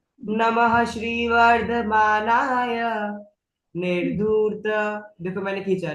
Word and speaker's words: निर्धूत: निर्धूत को थोड़ा खींचो, रेफ है ना, अगर आप निर्धूत छोड़ दोगे तो आपका कलिल आत्मन टूटेगा, देगा, ठीक है।